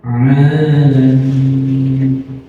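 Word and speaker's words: العالمين: Istimewa di dalam Al-Quran adalah huruf A, karena tidak ada di dalam bahasa Indonesia. Di dalam bahasanya tidak ada huruf Ain, adanya huruf A. Sedangkan di dalam bahasa kita, bahasa Al-Quran maksudnya ada Hamzah, ada A. Dan harus kita benar-benar baca Alamin.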